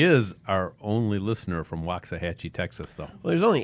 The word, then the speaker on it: Waxahachie: we crushed the Wasakachi or whatever. Waxahachie. There you go. That gotta at least learn to pronounce it, you know.